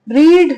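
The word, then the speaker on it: read: से लिखी जाती है लेकिन बोली क्या जाएगी रीड रेड रेड ठीक है कैसे बोली जाएगी रीड रेड रेड ठीक है यानी पढ़ता है पढ़ा या फिर पढ़ा था अब स्पेलिंग सेम है सिर्फ प्रोनाउंस एशन अलग है तो हमें इस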